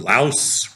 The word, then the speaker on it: Laos: like a 25% tariff on Japan or 25% tariff on Laos rhymes with house.